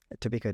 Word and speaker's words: Tobiko: Tobiko data.